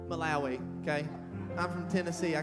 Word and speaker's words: Malawi: in Malawi how do you say that now Mallory Malawi okay I'm from Tennessee I can't say that